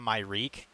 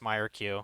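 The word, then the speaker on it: Myrkul: I back in the day, I always called it the Myreek, like an Aid of the Myreek. But no, it's actually pronounced Myrq. At least that's how I've heard other YouTube people say it.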